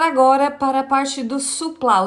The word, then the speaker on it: sousplat: sobre o o prato quer dizer a a pronúncia é sousplat né então ele pode ser aí feito de